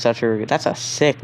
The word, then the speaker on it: Satoru: It's Satoru.